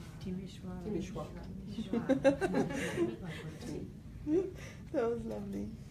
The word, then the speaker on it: Timișoara: Timișoara. Timișoara. That was lovely. It has the sh letter that's not in the English alphabet. Sh. It's like an S with a comma underneath. It's sh. Timișoara.